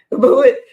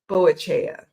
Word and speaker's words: Boadicea: I can never pronounce this word, so don't shoot me. Boadicea. Boadica. I want to always pronounce it Boachea, but that's not how you pronounce it.